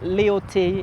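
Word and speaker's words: Léotti: nickname oh uh because my name in french pronounce is leotti and i've worked abroad like my old adult life and they could never pronounce leyote so they always ended up calling me and it became my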